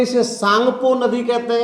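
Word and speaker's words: Tsangpo: है जिसे कहते हैं सांगपो वैसे तो सांगपो इंग्लिश का शब्द है य टी साइलेंट रहता है लेकिन यहां पर ये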